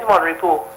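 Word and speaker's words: Mon Repos: It is Monrepo. And I was very touched and tickled to hear him say, hey, it's a French word. You don't pronounce the S.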